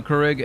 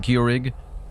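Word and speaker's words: Keurig: You pronounce it Kurig. That's probably the right way to pronounce it.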